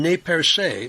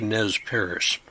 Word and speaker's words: Nez Perce: French pronounced the name NE Perce but English speakers simplified the pronunciation to Nez Paris when Lewis and Clark